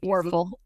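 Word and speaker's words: Wuerffel: Werfel.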